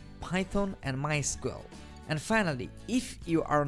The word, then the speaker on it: MySQL: as you can tell i've been calling it mysql that is the correct pronunciation however it is also commonly called mysql if you hear it called that don't be